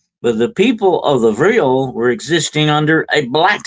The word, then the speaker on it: Vril: That's V R I L. That's how that's spelled, okay? But it's pronounced Vril like real, but Vril with a V.